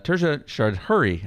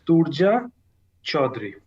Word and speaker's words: Turja Chaudhuri: by our special guest uh turjan and uh tertia hurry i just knew i'd screw that up welcome